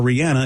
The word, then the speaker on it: Rihanna: A lot of people getting Rihanna tattoos, or Rihanna, if you want to say her name right.